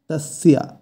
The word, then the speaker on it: তস্য: এখানে যেহেতু দন্তস্ব আছে তাই শয়ের উচ্চারণটা হবে স, স কিন্তু নয়, স। তস্যা এই শব্দের অর্থ তার।